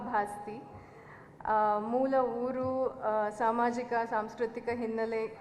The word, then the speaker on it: ಭಾಸ್ತಿ: ಬಗ್ಗೆ ಹಲವು ಚರ್ಚೆಗಳನ್ನ ಕೇಳಿದ್ದೇನೆ ನನ್ನ ಸರ್ನೇಮ್ ಅನ್ನು ಭಾಸ್ತಿ ಬಸ್ತಿ ಬಸದಿ ಬಸಂತಿ ಅಂತ ಏನೇನೋ ಬೇರೆ ಬೇರೆ ಸ್ಪೆಲ್ಲಿಂಗ್ ಗಳಲ್ಲಿ ಯದ್ವತದ್ವ ಉಚ್ಚಾರಣೆಗಳಲ್ಲಿ ಹರಡಿದೆ ನಾನು ದೀಪ ಭಾಸ್ತಿ ಮೂಲ ಊರು ಸಾಮಾಜಿಕ ಸಾಂಸ್ಕೃತಿಕ